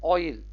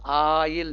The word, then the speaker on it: oil: ऑयल, ओ आई एल, ऑयल, वो आयल नहीं होता है, हम बोलते हैं आयल, आयल, आ नहीं होता, आयल कैसे होता है, आयल, देखिए तमिल का लिख दिया हूं, आयल नहीं होता है, ऑयल, ऑयल, ओ लगेगा, ऑयल, ऑयल, ऑयल, ऑयल।